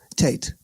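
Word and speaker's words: Teit: Is it pronounced Teat or Tate? Tate. Tate.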